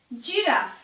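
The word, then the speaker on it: giraffe: জি এর পরে ই আছে, এখানেও তাই জেম, জেম, জি এর উচ্চারণ G plus E. জিরাফ, জিরাফ, জি আছে তারপর আই আছে, তাই এখানে জয়ের উচ্চারণ জিরাফ, জি প্লাস আই।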